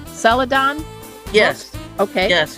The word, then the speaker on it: Celadon: now the print version is by is it pronounced Celadon yes okay yes it's a an imprint of